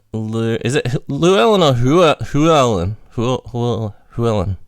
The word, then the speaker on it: Llewellyn: Llewellyn. How do you pronounce it? It's Llewellyn. Yeah. It is with an L? Oh, okay. Yes, yeah, it's Welsh.